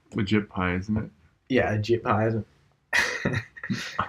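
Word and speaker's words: Ajit Pai: Yeah, a JIT pie, isn't it? A shit pie? A shit pie, yeah. That's almost certainly not how to pronounce it, but anyway. A JIT pie. No, it's AJIT pie. P-A-I.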